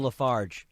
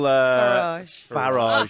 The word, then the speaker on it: Farage: driver you have Nigel lafarge we win know how you say is now how do you say his name right time is up you very much what what is it it's nigel farage but has all the little